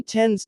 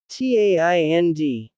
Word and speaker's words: tend: The word is short but clear. Tend. The E sound is like the word pen. Not TAIND. Not tend. Correct pronunciation. Tend.